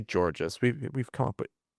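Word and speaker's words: Georges: How do you say Georgees? We we've come up with against this problem before. Like George with an S at the end.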